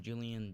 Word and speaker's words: Julian: His real name, Julian Day. So that's why he's obsessed with days. His last name is Day, and his first name rhymes with July.